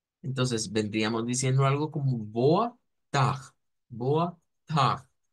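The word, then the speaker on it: boa tarde: Es decir, si nos cuesta gesticular el sonido de la R francesa, pues podemos recurrir a pronunciarlo como una J. Entonces vendríamos diciendo algo como boa tag, boa tag.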